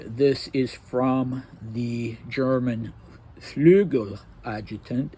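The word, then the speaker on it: Flügeladjutant: G-E-L, and in Russian it's spelled with an E or an I, so Flegel adjutant, and it means wing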